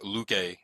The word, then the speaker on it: Luque: And then I did want to double check with Kevin how to pronounce his last name, and he said that we should go with Luque going forward.